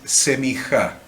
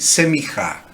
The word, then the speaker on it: semijá: como cordobeses, entonces lo vamos a pronunciar en cordobés, vamos a decir semijá, semijá, ¿ves? Como pronunciamos los cordobeses, semijá. Pero no sepan que si agarran un judío no le va a pronunciar semijá como nosotros, va a decir, ¿qué